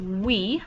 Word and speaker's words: oui: And this is oui, like oui all the way home, and it means yes.